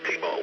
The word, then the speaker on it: Timo: And I should go by Tim, actually Tango India Mike, and it's actually it's actually pronounced Timo, which is the name actually on my license.